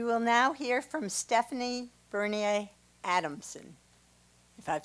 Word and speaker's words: Bernier: we will now hear from Stephanie Bernier Adamson if I've said that correctly said it right thank you for allowing me to speak today my name is Stephanie Berne Adamson and I traveled from Fullerton California to